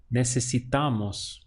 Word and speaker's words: necesitamos: We have ne, se, si, ta, mos. Necesitamos.